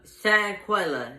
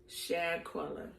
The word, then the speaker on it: Shanquella: Recently, what hit the news is, I don't want to get her name wrong, Quella. I will call her Quella. Shanquella, that was her name. Say her name. Shanquella. Shanquella.